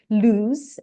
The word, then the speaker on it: LUZ: She holds a bachelor's degree in modern languages and postgraduate degree in educational informatics from LUZ, I think L-U-Z, is it right? Did I pronounce it right, Doris?